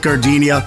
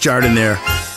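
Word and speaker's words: Jardinière: Hey guys, when you're at the counter, don't call it gardenia. It's pronounced Jardiniere.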